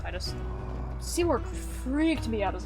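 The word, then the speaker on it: Tidus: I will always remember Seymour's name because Titus, he or if you pronounce it, I guess, Titus. correctly, Titus. It's Titus.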